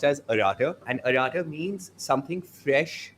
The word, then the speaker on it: Arata: It's pronounced as Arata.